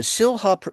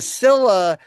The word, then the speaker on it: Silha: We have Professor Jane Kirtley, who's the SILHA. Is it SILHA? Is that the right pronunciation? No, the H is silent. It's like Scylla and Charybdis. Ah, Scylla and Charybdis. Okay. The Scylla Professor of Media Ethics and Law.